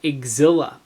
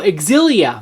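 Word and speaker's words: Xillia: Tales of exilla. That's how you pronounce it because that's what is written. E. Hang on. Can I focus that here? Yeah. Eushidia. Oh, exilia.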